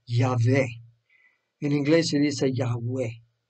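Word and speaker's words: Yahweh: entonces este programa pero según los estudios estudiosos bíblicos entre ellos puede haber protestantes y católicos eso es el nombre se pronunciaría algo como ya ve en inglés se dice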